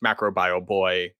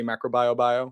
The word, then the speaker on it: MacroBioBoi: That being said, no one can pronounce it because it looks like it's just macro bio. When everybody reads it for the first time, they say macro bio.